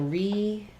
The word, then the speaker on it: repatriate: So repatriate. We have stress on the pay syllable, and the first letter E will say a tense E sound.